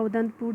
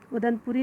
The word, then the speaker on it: उदंतपुर: कौन सा, तो आपका उदंतपुर जो है आपका, उदंतपुरी नहीं उदंतपुर है यहाँ पे, ठीक है ना। क्योंकि हम लोग हमेशा प्रोनाउंस करते हैं ना उदंतपुरी, तो यही रीज़न की वजह से हम लोग भूल जाते हैं।